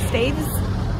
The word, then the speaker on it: Staithes: main road part of sadie's staves how you pronounce apparently um got on the